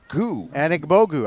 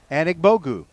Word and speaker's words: Anigbogu: Look at your pronunciation. Well, I got it. It's Anna Bogu. Anigbogu. I think you nailed it. Anigbogu.